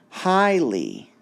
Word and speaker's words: highly: Highly, highly. Remember, we're counting syllables, so we're going to have 2 marks, highly, and highly would be stressed like that.